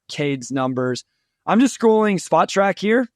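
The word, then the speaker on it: Spotrac: scrolling spot track here I said it right this time so everybody that yelled at me and Wes on Twitter about saying it incorrectly spot track thank you Keith for correcting me there so I'm just scrolling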